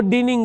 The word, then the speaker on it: dining: Dining room means ห้องกินข้าว No dining room. No, it's wrong. D-I usually spelled is ออกเสียงเป็น die, like diving, dining, writing. ไม่ใช่ reading room ไม่ได้ So because normally Thai people pronounce it like E.